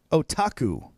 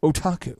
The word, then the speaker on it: otaku: introducing to our listeners so the word is otaku otaku otaku and what it means is Grande do it